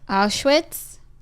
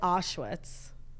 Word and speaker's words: Auschwitz: I know this is an important story, but how did you just pronounce Auschwitz? Auschwitz? You said Auschwitz. Listen. Not that it matters, but I feel like it's Auschwitz. Auschwitz, fine.